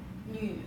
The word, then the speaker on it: 女: 呢与女三声女儿.